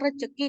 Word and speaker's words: rezeki: di atas terdapat kata rezeki dari kata rezeki kesalahan fonologi pada kata tersebut terjadi karena fonem Z dilafalkan C sehingga pelafalan kata rezeki menjadi rezeki bentuk baku dari kata rezeki adalah rezeki Nah sekarang kita masuk